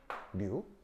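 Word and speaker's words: ν: 어떻게 쓰냐면 읽을 땐 어떻게 읽냐면 뮤라고 읽어. 알겠죠? 뉴 아니 아니 아니 아니 뉴라고 읽고요.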